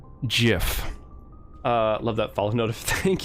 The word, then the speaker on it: GIF: That's how we pronounce it around here. Hard pause, straight into the microphone, hard G. GIF.